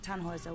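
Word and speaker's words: Tannhäuser: why what's your name tanhauser we'd pronounce it tanjoy tan hoiser with an umlaut german roots yes my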